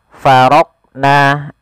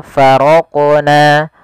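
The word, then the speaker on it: فرقنا: Contoh faraqna, ini tidak memantulkan huruf qaf, ini salah. Yang kedua faraqna, ada menambahkan hamzah setelah huruf qaf itu menjadi faraqna. Harusnya langsung saja faraqna, faraqna, ya, mengalir dia huruf qafnya sesuai dengan makhrajnya.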